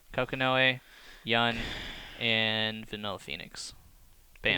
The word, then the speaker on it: Kokonoe: Is Kokono how you spell it? Or say it? Kokanoe. Kokonoe, Yun, and Vanilla Phoenix.